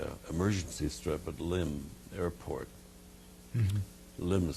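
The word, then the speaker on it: Lympne: us at the uh eer Mercy strip at limb airport MH limb is spelled l y m p n e but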